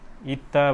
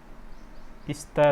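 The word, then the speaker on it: 있다: यसलाई के उच्चारण हुन्छ यसको उच्चारण चाहिँ इत्ता भयो इस्ता चाहिँ भएन इत्ता भनेको रहनु हुनु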